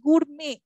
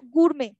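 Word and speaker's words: gourmet: এবং উচ্চারণটা কি হচ্ছে? গুরমে, এই টিটা উজ্জ্ব, সাইলেন্ট, ঠিক আছে? সো গুরমে। তারপরে নাম্বার 11 কি হবে?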